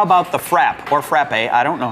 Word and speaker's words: frappe: Frappe. Frappe, that's how you pronounce it.